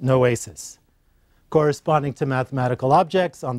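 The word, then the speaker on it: νόησις: The Greek is pronounced noesis.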